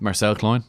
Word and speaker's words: Marcel Klein: because you touched on, you've met up with Marcel Klein. Is that how you pronounce his name?